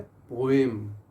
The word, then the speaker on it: poem: Word है पोएम। और से सुनिए इसको, पोएम। पोएम, मैं ब्रिटिश प्रोनाउंसिएशन की बात कर रहा हूँ, ये पोम नहीं है।